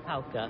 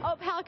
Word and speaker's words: Opalka: Opalka. Opalka.